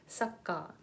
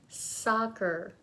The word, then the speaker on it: soccer: it becomes really short it sounds like Sokka Sokka ha so please be careful please please be careful all right so this practice this word repeat after me soccer soccer all right mmm